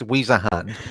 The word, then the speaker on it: Wiesehan: It's Wiesehan. So yeah, Wiesehan, yeah.